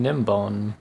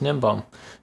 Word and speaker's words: Gnembon: way I'm very sorry I've been pronouncing nim bone wrong this whole time it's just nimble I don't know what I was trying to say Jim Bollman that just nimble sorry about that by